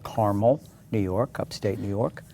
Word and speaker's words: Carmel: I grew up in a small town called Carmel, New York, upstate New York. Oh, I've heard of that. Carmel? And Carmel, it's pronounced Carmel.